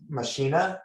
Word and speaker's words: machina: vox machina but yes i think it's actually pronounced machina i've heard about them before okay i think